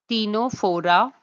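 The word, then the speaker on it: Ctenophora: All the films are given to you in the ascending order and they should be pronounced as porera, celentraa, tenopora, platial menths, escalida, arthopoda, mulasca, echinood, dermata, hemicorda, cordata.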